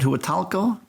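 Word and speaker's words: Huatulco: way South we were supposed to stop at hu talo that's how it's pronounced uh but there was some bad weather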